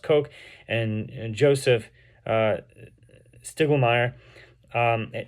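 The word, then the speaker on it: Koch: So, Hugo, not Hugo, I think it's pronounced Coke, and Joseph uh Stiglmayr um independently exposed this forgery in 1895 around 1900.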